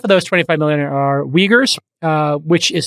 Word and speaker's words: Uyghurs: and about half of those 25 million are uyghurs uh which is spelled u y g h u r s but pronounced uyghurs which is a muslim minority and